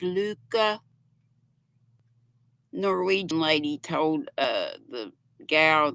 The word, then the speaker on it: Lykke: Are my well, I have some Luca, which looks like Likey, but it's pronounced Luca. Norwegian lady told the gal that works or owns the Smoky Mountain Spinnery in Gatlinburg that it's pronounced Lykke, Luca.